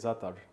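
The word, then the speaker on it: za'atar: That's how you say it, Zatar.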